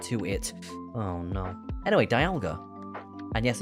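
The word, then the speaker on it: Dialga: Anyway, Dalga. And yes, it's Dalga, not Dalga. It's Dalga because Well, technically it's Dalga. Dalga. It's like the dial of a clock cuz it's the time poke.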